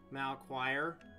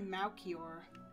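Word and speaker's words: Melchior: that the character's name mal choir it's probably moukier that actually sounds cooler that's all i've always heard it pronounced as malachor but malkier probably could be a more accurate pronunciation yeah surrealism fixing us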